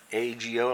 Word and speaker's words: ago: I'm going to put an X on the Ago, A-G-O, like a go, but it's pronounced Ago, and that's the chin,